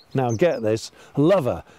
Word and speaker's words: Lover: called now get this lover l.o.v.e are technically pronounced all over but at this time of the year when Valentine is absolutely swinging we call it lover and you'll see that